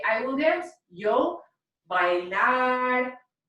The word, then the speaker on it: bailaré: Yo bailaré. Make sure that when you're putting the accent mark on the appropriate ending, the E, that you're also emphasizing your voice at the end there.